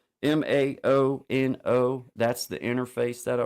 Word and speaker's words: Maono: And then this it's a Moano, I think is how you say, or Muano. Maono.